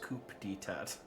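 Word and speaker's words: coup d'état: Oh, it's pronounced coup d'etat.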